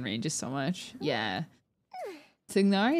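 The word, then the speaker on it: Tighnari: Tignari is a funny one because canonically in the game, his name is Tainari.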